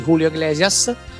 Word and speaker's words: Julio Iglesias: è appunto Se mi lasci non vale di Julio Iglesias. L'ho detto bene la pronuncia?